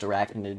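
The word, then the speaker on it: Airachnid: is air acne but it's pronounced arachnid just like the normal word but it's weird to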